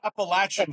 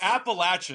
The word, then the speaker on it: Appalachian: it wrong is not appalachin appalachin or whatever I'm sorry but the English language doesn't make those sounds with those letters appalachin Trail get it right it's the appalachin US New Yorkers we